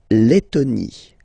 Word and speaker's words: Lettonie: So remember when you've got this E and then a double letter like that, T, okay, then you will have to open your E and it will become E, le, Lettonie.